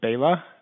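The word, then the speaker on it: Bela: address for the record yes um and i'll spell it for the court reporter uh my name is bayla b-e-l-a i am a utility analyst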